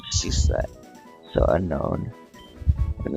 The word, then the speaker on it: Unown: So unknown. And they spell it's like unown, like you own something.